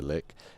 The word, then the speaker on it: lich: ghosts lair thus distracting the lick or lich depending on how you want to pronounce it and halting the